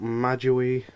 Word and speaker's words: MajAoi: Yes, that's how you say the channel name, not MajAoi's or however many people I've heard it pronounced on servers and stuff.